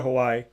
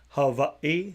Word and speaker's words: Hawaii: I would go to Hawaii, and I would go to, which I realized is actually pronounced Hawaii. So you got to say it a little different, but I would definitely go there.